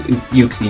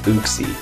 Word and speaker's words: Uxie: to take out this uxie no problem i almost said oopsie no nobody pronounces it like that except for uh i